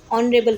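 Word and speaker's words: honourable: इसीलिए यहां पर इसको हम ऑनरेबल पढ़ेंगे। ऑनरेबल का जो उच्चारण है वो अ से स्टार्ट हो रहा है।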